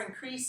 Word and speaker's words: increase: To grow or increase in number. 2. Okay, 2 syllables. Where's the stress? Increase. Increase. Increase. Okay, so this is increase. Yeah. This is 2. If you say increase, that's a noun.